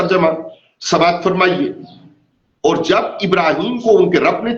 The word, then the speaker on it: ابراہیم: ہے۔ پہلا نکتہ حضرت ابراہیم علیہ السلام کی عظیم اور عبقری شخصیت سے متعلق ہے۔ آپ کا اسم گرامی ابراہم یا ابراہیم ہے۔ اس لفظ کا تلفظ ابرام اور ابراہام بھی کیا گیا ہے۔ معنوی اعتبار سے لفظ